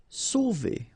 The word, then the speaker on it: sauver: Sauver. Okay, remember when you combine A and U, you get the sound O. So really like the letter O.